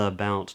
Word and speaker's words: about: about feel about now about starts with a schah feel feel and then we get a B Two Lips come together B and then we get another Al dong which we had in the word how how a about can you